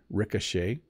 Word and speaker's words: ricochet: than you might expect first of all Ric Ricochet so the O has more of an AA sound Ricochet and then the